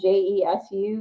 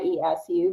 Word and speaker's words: Jesu: Desiring, and it's spelled Jesu, Jesu. It really should be Yesu, because they called him Jesu, Yesu, which is fine.